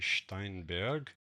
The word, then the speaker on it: Steinberg: by a german company the german pronunciation will be steinberg pardon my german there